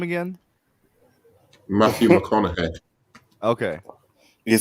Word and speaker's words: McConaughey: huh if he could do different accents Matthew mohanahan would be like one of the best wait say his name again Matthew McConaughey okay you can sound like he's a Mahana